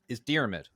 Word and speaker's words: Diarmuid: It's more pronounced like deer, mid, Diarmid.